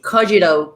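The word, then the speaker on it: Kogito: so it's just larry are you a native english speaker yes so you probably say cogito cogito cogito i don't know how you say it yeah we always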